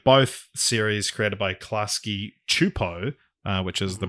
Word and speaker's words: Csupo: wild they are both series created by klasky chupo which is the pronunciation of uh gabor chupo's last name um